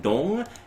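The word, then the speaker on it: 동: And in case you guys are wondering why we're calling this Dong Wars, it's because in Korean it's actually pronounced more like Dong, and it means neighborhood.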